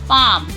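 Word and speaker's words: palm: would यह है should should could would should पाम L silent पाम काम half half smell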